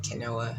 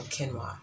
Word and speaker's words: quinoa: I used to pronounce it quinoa until a friend of mine told me, don't say that in public. Don't say it that way in public. So quinoa. Quinoa, I don't have the